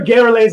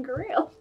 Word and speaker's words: Garrelay: Yes, well, there are other Garrelays out there. You said pronounce them Grail. No, we pronounce them Garrelay in Baldur's Gate.